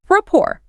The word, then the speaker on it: rapport: And technically, the T is silent, so it's pronounced rapport, with the stress on the second syllable.